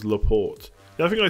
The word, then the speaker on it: Laporte: am being caps Christophsis ignore the Ian pronounce it as if it was Laporte now I think I